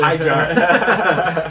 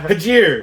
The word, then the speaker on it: Hajir: Oh, I was calling him Hyjar. Hajir.